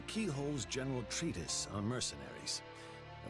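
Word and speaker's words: Cichol: handle the fact that Keyhole is is written c i c h o l Keyhole the I the C makes a k the I makes an e the SEC the next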